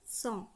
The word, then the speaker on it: cent: ১০০ উচ্চারণ করব CENT, সঁ।